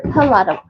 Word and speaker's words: Pelado: But you say it pelado or pelado? The pronunciation is pelado.